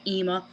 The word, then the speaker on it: Ema: a bit lower, and it's like I hear more of the M in the Emma, but whereas there's just one M in Ema, the way they spell it in Ace Attorney, I was just thought it had more of an I or an E sound to it, where it had like a higher pitch to it, like Ema, like how I pronounce it.